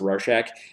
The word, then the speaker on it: Rorschach: It is, I believe it's supposed to be pronounced Rorschach.